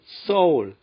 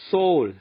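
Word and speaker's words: Seoul: S 뒤에 자음이냐 모음이냐에 따라 발음 차이가 납니다. 그래서 서울, S-E-O-U-L을 외국인들에게 물어보면 soul, soul, 세울 하는 것은 S 다음에 모음 이가 오기 때문에 쌍시옷 발음하기 쉬운 겁니다.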